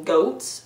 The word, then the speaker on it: Goths: an army of Goths the original pronunciation of Goths is actually goats which just adds a